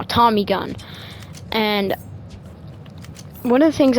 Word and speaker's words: Tommy gun: I know some of you going to get mad at me for saying Thomas Gun, so I'm going to say it right now. Tommy gun.